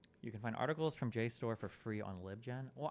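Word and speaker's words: JSTOR: the side and everything it's pronounced J store if the civilian to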